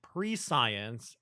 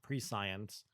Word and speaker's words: prescience: And then I said pre-science, and then my chat laughed at me. It was like, streamer, you're dumb. It's not pronounced pre-science. And I think it's pronounced like prescience, like omniscience or something.